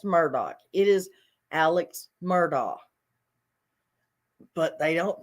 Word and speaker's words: Murdaugh: an education why do they call him Alex Murdock it is not spelled Murdoch it is not pronounced Murdoch it is Alex murdaugh but they don't pronounce it that way most